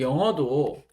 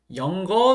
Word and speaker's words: 영어: 이제 기억 받침이 없어졌죠.네 그리고 영어도네 영거 수업한다는 분들 많으세요. 영거네 영거로 뭐예요? 영어로 뭐예요? 이거 그렇게 발음하지 않거든요.